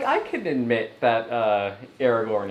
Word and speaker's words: Aragorn: could admit that uh Aragorn is cute you don't have to uh Aragon yeah he said his name wrong yeah you don't like